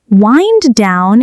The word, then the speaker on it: wind: Wind down is pronounced like wind that blows, not wind like winding a clock.